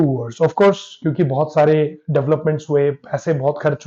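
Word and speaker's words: Tsar: went from bad to verse of course क्योंकि बहुत सारे डेवलपमेंट हुए पैसे बहुत खर्च हुए डिप्रेशन आने लगा तो जो इसके वो थे हेड कम्युनिस्ट थे राजा तो नहीं बोल सकते सार निकोलास वन गिव अप इन्होंने बोला भाई मेरे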